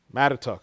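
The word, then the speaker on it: Mattituck: Did I pronounce that correctly? I'm not from here. Mattatuck, okay.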